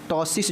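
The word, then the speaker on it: ptosis: हैं क्या कहते हैं पी जो है साइलेंट होगा टासिस जो है हम इसको कहते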